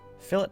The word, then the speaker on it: fillet: let's go ahead and maximum filet there fillet actually is the proper pronunciation um let's go ahead